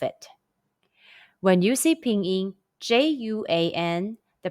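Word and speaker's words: juān: dollar in chinese question when you see j-u-a-n first stone in ping in how would you pronounce it the answer is juan are there any topics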